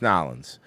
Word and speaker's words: New Orleans: We're absolutely investigating any connectivity to what happened in New Orleans, as well as other attacks. First off, it's pronounced Nolans.